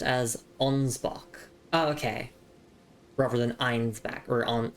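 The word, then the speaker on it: Ansbach: It's pronounced as onsbach.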